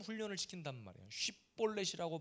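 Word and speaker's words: שיבולת: 쉬볼렛이라고 바라 발음하는지 십볼렛이라고 바람하는지 성경에 그대로 나옵니다.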